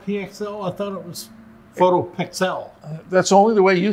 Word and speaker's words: PhotoPXL: it to both names photo p xl pronounce pixel but the pxl is the acronym for pixel i'm really proud and